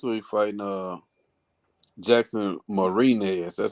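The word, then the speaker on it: Mariñez: fighting yeah that's what he's fighting uh jackson marina is that's how you say his name and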